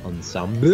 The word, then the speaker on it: ensemble: I believe it's pronounced ensemble. Is the correct French.